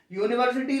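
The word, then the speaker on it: university: यूनिवर्सिटी में इसकी spelling you से शुरू हो रही है, लेकिन हिंदी में इसका उच्चारण साउंड या है।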